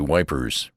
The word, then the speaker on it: Ypres: them a question about Ypres, for I pronounced the name French fashion, which put me under suspicion as a swanker. "Don't try to come it, son," he says. "Say wipers. That's what we calls it."